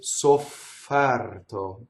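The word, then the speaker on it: sofferto: And we have double F, right? Ssoffɛrto. So you just have to stop on the F.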